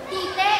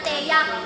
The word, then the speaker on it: Tea: lang aking pupunahin yung pagbigkas mo ng pangalan ko say tite talaga ba ganon ka nakating bro teya tian Hindi tite tuloy tuloy masyado ka